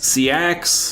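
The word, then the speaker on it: seax: It's s e a x seak.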